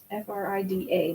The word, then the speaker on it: Frida: almost had that one Oscar it's spelled her name wrong they did f-r-i-d-a not OSH no Courtney told the answer no